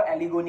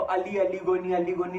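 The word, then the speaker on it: Aly Goni: सो अली गोनी नहीं है, वो एली गोनी है, वो एली बोलते हैं, ALY है वो, और अली की स्पेलिंग ALI होती है।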